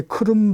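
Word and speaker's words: Крим: 2014년도에 러시아가 우크라이나 남쪽에 크롬 반도라고 우리가 보통 예전에 크림반도라고 했는데 우크라이나 현지 사람들은 그걸 크룸이라고 발음하니까 우리 이제 그 현지 사람들의 그 발음을 존중해 줘야지요 그런 반도를 2014년도 8년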